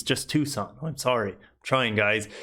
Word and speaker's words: Tucson: You don't pronounce a C. It's just Tucson.